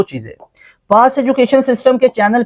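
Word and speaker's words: Cauchy: याद रख लो ये कोची ने इसको यूज़ किया था सी ए यू सी एच वाई काउची पढ़ेंगे ना इसको काउची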